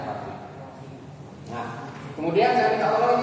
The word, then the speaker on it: roughing: Ya, rogging, tapi bacanya roughing.